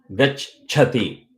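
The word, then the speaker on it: gacchati: The id or the ich, you grab it with the previous syllable. Gach, bud, and then you release the last part. Dhi, chati. It becomes easy to chant at any speed without akshara shuddhi problem. Gach chati, always gach chati.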